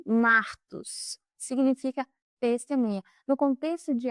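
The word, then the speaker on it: μάρτυς: Já no grego original, a palavra, essa aqui, pronuncia-se martos, significa testemunha.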